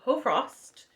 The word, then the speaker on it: Hoarfrost: So, Hoarfrost, apparently, Google and multiple sources told me that's how you pronounce it. That, like, the A and the R are kind of soft, because if not, it's like Hoarfrost.